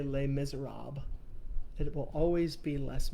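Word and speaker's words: Les Misérables: harassing adam about this um in the book less miserables you don't need to send me a text message and tell me that i'm pronouncing it wrong i will never say les miserables it will always be less miserables there is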